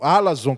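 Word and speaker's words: ἀλαζών: palavra grega para ela Alon ou alason que a sílaba tônica do grego é na primeira alason significa fanfarrões gabol conhece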